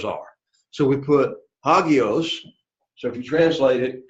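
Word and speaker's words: ἅγιος: Because again, the rough breathing in front of the words. So it's hagios, hagios, hagios, kurios, hotels.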